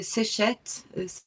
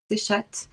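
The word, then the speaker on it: Seshat: Alors, il y a plusieurs manières de le dire. On a Séchet, Séchat, Hmm. ça va dépendre.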